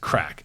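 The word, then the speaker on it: craic: This word is pronounced crack.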